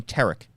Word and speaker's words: Tarik: involves Tariq skubel and by Tariq I mean Tarik because if he mispronounced his name every single time on this podcast Tarik skubel going to